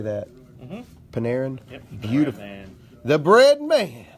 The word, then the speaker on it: Panarin: Panarin?